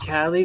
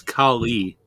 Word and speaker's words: Kali: he says he did cali but i know i could him up with my sword oh honestly pronounce it correctly it's kali huh